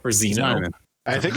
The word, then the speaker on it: Zniw: I believe Rick was saying the W is supposed to be pronounced like an O, so it's Zino or Zeno. I think it's Zino.